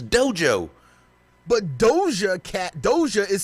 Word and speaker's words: Doja: It's pronounced Doja? What did you think it was pronouncing it? Yeah, I want to hear that. Duga.